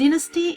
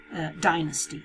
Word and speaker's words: dynasty: making a mistake because the dynasty is the English the British pronunciation while in it in American English you say dynasty okay so you have a two different pronunciation okay so let's have